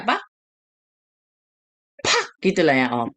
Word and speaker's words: 팍: Misalnya bacanya apa? 팍!